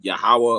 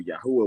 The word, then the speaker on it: Yahweh: Yeah, which I would consider Yahweh or Yahuwah, whatever you like to pronounce it.